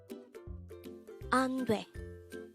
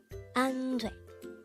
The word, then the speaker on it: 안돼: ANDWAE. ANDWAE. This is pronounced as a two-syllable word. The first syllable is an, the second syllable is dwe. Pronounce it with me. ANDWAE. ANDWAE.